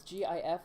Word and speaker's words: GIF: blue one rumble do you pronounce do you pronounce g-i-f with a hard or soft g with a